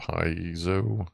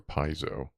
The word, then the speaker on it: piezo: I wonder if that's a like a piezo.